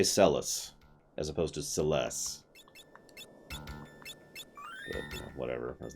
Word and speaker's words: Celes: God, now I've said Celis in my head so many times, it's losing all meaning. Celeste? Sorry, I'm saying it wrong now. God dang it. Celeste, that's how they say it.